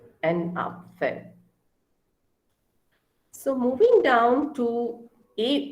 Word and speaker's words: Apfel: Okay, A is R, so Apfel. Apfel is apple. Okay, so Vater and Apfel.